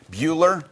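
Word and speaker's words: Buehler: Bueller Moving and Storage.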